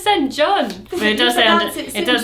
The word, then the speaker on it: St. John: Also, everyone would be like St. John, and then you'd be like, no, it's St. John. No, it's St. John. And they'd be like, but it says St. John.